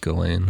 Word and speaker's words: Ghislaine: pronounced Ghislaine. I like it. Well, the S is silent.